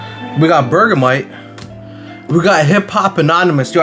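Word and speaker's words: Hippopotas: got bergamite we got hip-hop anonymous yo i learned how to say this guy's name it's hip papa toss but i like saying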